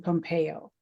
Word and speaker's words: Pompeo: guest today is Pompeo did I pronounce that correctly that's correct yes it's Italian ah well perfect welcome